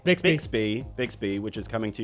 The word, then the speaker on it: Bixby: And we'll also round out with uh Big Speed. Did I pronounce that right? All right. Yeah, it's Bixby. Bixby.